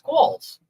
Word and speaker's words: Qualls: It's Qualls. Look at that. It's Quall. DJ Qualls. I always thought it was Quill. The U messes me up.